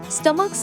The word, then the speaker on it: stomach: Stomachs are the plural noun of stomach. In the stomach, ch pronunciation is like k.